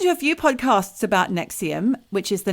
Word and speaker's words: NXIVM: It's NXIVM, but it's pronounced Nexium.